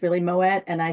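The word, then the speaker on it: Moët: You know what, on my interview with Moet Hennessy, I said Moet and it's really Moet, and I said Veuve and it's Veuve.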